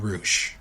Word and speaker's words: Rush: main event and if you have not seen roou and it's spelled like rush but it's pronounced roou go